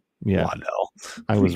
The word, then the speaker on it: Waddle: All right, so again, Jalen Waddle or Waddell, however I pronounced it the first time. Yeah, Waddell.